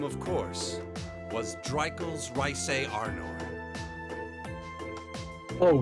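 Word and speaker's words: Reise: And that name, of course, was Dreikel's Rhysei Arnor. Oh, Rhysei.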